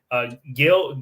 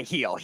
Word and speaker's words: Gil: Gil, and that's not how you say it. I don't know how. I know I've heard him say heel. Huh? Is it? It's not Gil. Isn't that Gil or something like that? Heel.